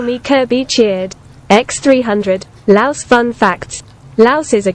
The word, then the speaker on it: Laos: Laos is, you know, not pronounced Laos. It's Laos. Okay. Like Khan from King of the Hill.